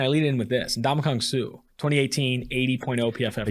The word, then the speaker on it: Ndamukong: Yeah, it's not. There's no G. But so he's the ultimate. So he's played like Oh, it's Ndamukong.